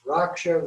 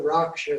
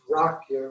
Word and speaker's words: Raksha: And the last part is Raksha, Raksha, Soha. It also is pronounced Rakya, Rakya, Soha.